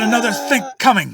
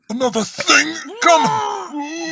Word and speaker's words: another think coming: I always thought the expression was another thing coming. That's because the K sound at the end of think blends with the C sound in coming. So think coming sounds like thing coming.